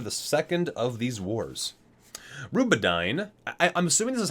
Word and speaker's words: Rubedyne: Rubedyne. I'm assuming this is how you pronounce it. It's Rube, like R-U-B-E hyphen A-D-Y-N-E. Rubedyne.